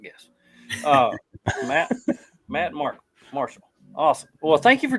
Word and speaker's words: Marchal: Uh how do you say your last name? Matt. Marcow. Marshall. Marshall. Okay. I would have never guessed that.